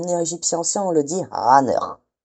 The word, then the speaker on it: ankh: En égyptien ancien, on le dit ankh. ankh ankh Ça représente les les trois sons a a comme le ayin, le ne encore une fois et le rekh.